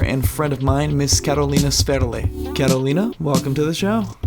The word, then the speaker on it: Karolina Sferle: It's Karolina. My full name is Karolina Sferle. That's how it's pronounced.